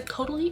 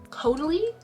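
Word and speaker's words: Caudalie: Going along with the skin care, um, I got the Kotier um, grape water coty. I think it's actually pronounced kodi.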